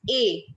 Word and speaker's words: est: And what is A? EST. EST, the pronunciation is A.